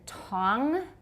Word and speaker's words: Tang: contrast those two words this happens to be a Chinese word though the Tong dynasty that's how we say it the Tong dynasty Tong tau